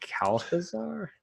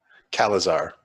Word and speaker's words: Calazar: I always say his name wrong. Is it Calthazar? Calazar. Calazar. Okay, I always put the TH there.